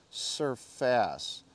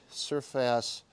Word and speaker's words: Serfas: the company is spelled surface or I think it's pronounced surface which sounds like surface which is another bike company but they are two